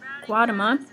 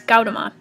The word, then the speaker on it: Gautama: a man named said her that guatemala how do you say that hold on all right i looked it up it's gautama um he taught that